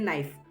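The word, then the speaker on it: knife: I will pronounce it एज कि मैं इसको कनाइफ बोलूँगा। तो फिर मोहन ने उसे नाइफ को कनाइफ बोलना स्टार्ट कर दिया, के को साइलेंट नहीं करता था वो।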